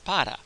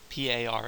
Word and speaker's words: para: an English speaker and you're probably going to pronounce that word par with a aspirated P that's what that small H indicates and a very English sounding R par right and that's that's an acceptable pron iation but it's